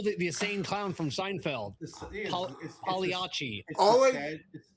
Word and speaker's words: Pagliacci: That's not how you. Pagliacci. Pagliacci. Pagliacci. Okay. Pagliacci. You got to roll your Pagliacci.